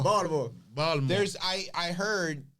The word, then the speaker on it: Baltimore: Baltimore, not Baltimore. That's how they say it too. Baltimore.